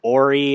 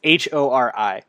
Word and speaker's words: Hori: People pronounce it Hori. People pronounce it Ori. It's Hori. Whatever.